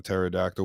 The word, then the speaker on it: pterodactyl: P at the beginning a pterodactyl with a p at the beginning some's going to be